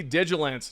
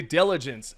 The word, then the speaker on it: Diligence: next up we have the digilant no I'm kidding that's what I said previously in another video I was absolutely tired guys but right now I'm going to say it correctly the diligence diligence has also received